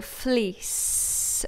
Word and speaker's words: fleece: to bring up so fleece with a nice soft S sound at the end a fleece jacket good